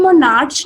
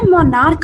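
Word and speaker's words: monarch: जब जैसे मोनार्क है, इसको हम मोनार्च नहीं बोलते हैं, इसकी प्रोनाउंसिएशन में हमेशा मोनार्क आता है.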